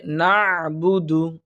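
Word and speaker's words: نعبد: থাকি কিন্তু উচ্চারণটা হবে নাবুদু একটু করা হলকের কণ্ঠনালীর মাঝখান থেকে উচ্চারণ হবে নাবুদু নাবুদু অর্থাৎ হালকা করে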